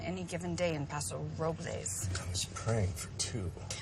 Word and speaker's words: Robles: it us approvals well the correct pronunciation is Robles but they call it Robles whatever I hope it's